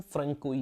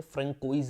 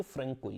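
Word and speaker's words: François: आगे चलिए, फैक्ट्रीज की दोस्तों अगर आप बात करें, 1668 में फ्रेंकोई कैरन, उसको बोलते हैं, प्रोनाउंसिएशन फ्रेंकोई है, लिखते हैं ऐसे फ्रेंकोइज है, प्रोनाउंसिएशन इसकी फ्रेंकोई है।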